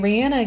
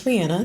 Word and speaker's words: Rihanna: By the way, I'm calling her Rihanna now because apparently that's how you're supposed to pronounce her name. Even though it feels more comfortable or you know to say it Rihanna, but she says it's Rihanna. So we're going to go with Rihanna.